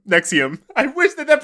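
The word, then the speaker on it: NXIVM: an organiz in an organization called Nix yeah pronounced nexum Nexium I wish that that pronunciation wasn't last time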